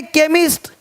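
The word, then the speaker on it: chemist: को कोपड़ नहीं पढ़ेंगे इसको चेम नहीं पढ़ेंगे केमिस्ट अब देखो चोलर नहीं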